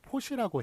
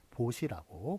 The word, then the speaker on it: 보시: 제가 이렇게 마이크를 대고 얘기를 하기 때문에 좀 발음이 발음을 또 잘못 또 전달이 되는 경우도 있어서 다시 한번 정확하게 얘기하면 포시가 아니라 보시가 맞습니다.